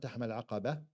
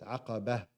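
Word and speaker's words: العقبة: a ta marbuta, and when you stop on a word that ends with a ta marbuta, that becomes a ha. So make sure the ha is actually apparent when you're pronouncing. It's not فَلَقَتَحَمَ الْعَقَبَةِ, it's عَقَبَةِ.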